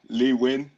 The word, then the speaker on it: Nguyen: Au milieu de terrain, numéro 10, Nguyen, Nguyen? Lee Win Yeah. de... Lee Win. Ouais. Désolé, prononciation Non, différente.